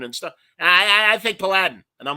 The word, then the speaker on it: paladin: from marvel and he's he was he was uh pronouncing it paladin like aladdin and i'm like no man paladin like you know uh like a knight uh have gun will